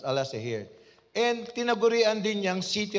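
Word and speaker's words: Alaşehir: here as pronounce No it is spelled as pronounce Al say here and tinagurian din yang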